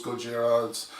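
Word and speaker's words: Gojira: it was originally said it's not godzilla originally it was gujarat's it's the pronunciation and all that stuff but he does it if if anyone's going to say goja it should be ken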